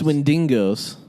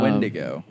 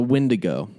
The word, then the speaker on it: Wendigo: friends from the hills that are not pronounced when dingoes when dango ate Joe baby of when dango a Wendigo a Windigo which I had somebody